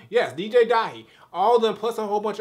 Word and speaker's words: Dahi: make sure i'm saying it right yes dj dahi although plus a whole bunch of other side